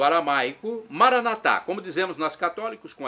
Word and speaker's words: Maranata: tônica na última sílaba o Maranata com a tônica na penúltima sílaba como diz nossos irmãos como dizem os nossos irmãos separados evangélicos ou protestantes Maranata Não importa se amar